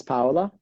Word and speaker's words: Paola: It's like pow, like you're punching someone like pow and then hola.